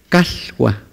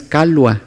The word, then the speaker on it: calhua: Es una L, tantito arrastrada. Calhua, no es calua, es calhua.